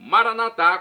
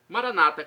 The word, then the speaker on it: Maranatá: E agora do aramaico eu clamo Maranatá, como dizemos nós católicos, ou Maranata, como dizem nossos irmãos separados, os evangélicos ou protestantes. Não importa a pronúncia, o significado é o mesmo.